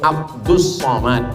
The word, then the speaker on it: Abdus Somad: Somad jadi sebenarnya namanya Abdus Somad tapi kemudian ditulis dengan Abdul Somad banyak jamaah yang kata nama Ustaz ini salah karena saya nama saya tak salah awak yang salah baca tulisannya Abdul Somad tapi membacanya adalah